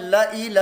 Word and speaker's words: لَإِلَى: کریم میں آتا ہے لَإِلَى الْجَحِيمِ، لَإِلَى الْجَحِيمِ، یہاں بھی یہ زائد الف نہیں پڑھا جائے گا بلکہ اس کے ہجے ہوں گے لام زبر لا، حمزہ زیر ای، لام